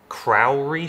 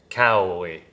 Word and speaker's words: cowrie: This is, I think it's pronounced Crowry shell? Crowry? I'm really having trouble saying that. Crowry shell? I'm gonna actually just cheat for a second. Say it. Cowrie.